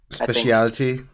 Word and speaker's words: speciality: Speciality. He pronounces every letter in that word, right?